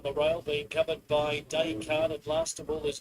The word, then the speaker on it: Descartes: It's pronounced Descartes. Tom, French philosopher. After Descartes. Descartes.